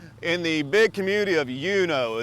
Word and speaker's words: Uno: the big community of yuno it's not Uno it's pronounced yo there's not a whole